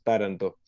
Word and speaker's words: Taranto: El acento en esa A inicial, porque me gusta como lo dicen ellos, Taranto.